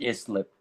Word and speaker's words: Islip: I'm pretty sure it's pronounced Islip. Please be quiet. Islip.